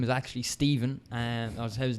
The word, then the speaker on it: Stephan: F but it doesn't the name is actually Steven and I was his name should be pronounced so Stephan Bonnar wants to come at